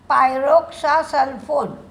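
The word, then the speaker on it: pyroxasulfone: पायरोक्सा एस य एल एफ ओ एन सल्फोन पायरोक्सा सल्फोन या केमिकलच उत्पादन प्रिया इंडस्ट्री करते.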